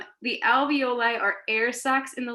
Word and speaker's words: alveoli: these structures called the alveoli now this is not pronounced ravioli the alveoli are air sacs in